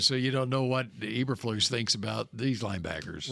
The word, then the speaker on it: Eberflus: Eberflus? Eberflus.